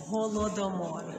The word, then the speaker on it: Holodomor: How do you guys pronounce Holodomor? Holodomor.